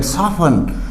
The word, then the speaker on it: soften: इसी तरह SOFTEN, साफन। साफन क्या होता है?